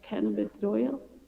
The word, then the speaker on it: cannabidiol: Number 1, the term CDB shall be cannabis, how do you pronounce that? Cannabidiol?